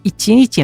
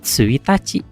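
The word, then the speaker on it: 一日: Jadi kalau ditanya libur kapan jawabannya suitaci. Kalau ditanyanya libur berapa hari bacanya ichi nici.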